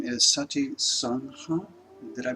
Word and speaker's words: Sati Sangha: I believe the name is Sati Sangha. Did I pronounce that correctly? Kind of. I'll tell you a little more. I have a nonprofit organization called Sati Sangha. Sati Sangha.